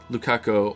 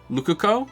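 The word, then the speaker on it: Ruka: Lukako. Why don't Oh, that's not that's not how you say his name. Luco. It's not Lukako. Luc. Luco. It's like a U instead of an A.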